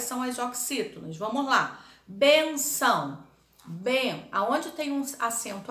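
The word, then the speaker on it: bênção: representar a sílaba tônica no caso dessa palavra bem benção o bem né é a sílaba forte Então são é a última bem é a penúltima então benção é paroxítona agora outra aqui mas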